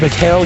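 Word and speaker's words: Michal: Late in the second period, it's not Michael Jordan. It's Mikhail Jordan.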